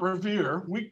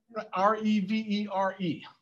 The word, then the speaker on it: Revere: It's not Revere. That's an Americanization of it. R-E-V-E-R-E.